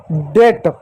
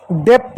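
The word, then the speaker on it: debt: जैसे डेट, डेप्ट नहीं, डेट, डी ई बी टी, डी का ड, ई का ई, टी का ट, डेट, बी साइलेंट होगा, इसको डे बटर नहीं पढ़ेंगे।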